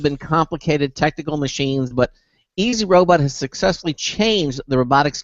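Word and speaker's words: EZ-Robot: from a company called easy robot and uh I guess the emphasis is on the first two letters e and z easy because easy robot makes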